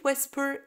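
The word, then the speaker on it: whisper: فنقول و ويسبر ويسبر يبقى في كلمه ويل وفي كلمه ويسبر الايتش سايلنت اوكي وطبعا الحروف الكلمات بتاعه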